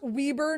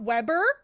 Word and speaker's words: Weber: here where oh yeah it's pronounced weber not webber oh i love those